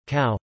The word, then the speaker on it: ကူ: Plus, pronounced, cow.